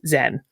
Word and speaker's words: Zen: In SinoJapanese, it is pronounced Zen.